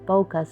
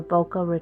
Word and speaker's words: bokeh: be called bokeh but when I looked it up it was bokeh so I remember boka Ron Florida and that's how I remember how to pronounce it but he wants to